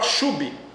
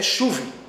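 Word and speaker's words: שוב: uma expressão chamada chuve, que alguns falam chube, porque se escreve SH, U com trema, BH, mas a pronúncia é chuve e não chube.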